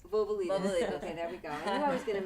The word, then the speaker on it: Vouvalides: How do you say Vouvalides. Vouvalides.